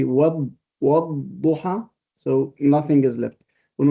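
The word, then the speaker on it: والضحى: Yeah, the wow, in fact, helps you to drop the lam.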